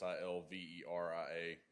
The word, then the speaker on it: Silveria: My name is Silveria. It's Silveria.